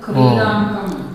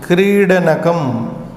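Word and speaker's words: क्रीडनकम्: Tat kridankam. Kridanakam. No. Say it properly.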